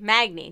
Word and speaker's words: Magni: the PTR that Magni which by the way Magne not magna i'm very sorry to everybody who i offended by mispronouncing that but Magni Bronzebeard will